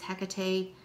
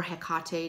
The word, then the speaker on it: Hecate: Sun element fire deities Hecate or Hecate depending on how you pronounce it Thor pan and Dawg